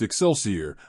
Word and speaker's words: XLCR: said that the Harley-Davidson xlcr Cafe Racer pronounced exceler was developed by Willie